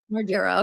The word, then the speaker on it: Margera: How do you say his last name? I know he's from the Jack uh jackassera. Margera. Okay. Yeah, you said it right.